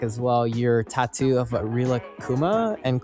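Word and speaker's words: Rilakkuma: Your tattoo of Rila Kuma and Korla Kuma. Did I pronounce that right?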